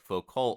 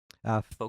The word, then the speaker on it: Foucault: But people like Foucault, who seem, am I saying it? What? How do you say his name? Foucault. Foucault. Fuku.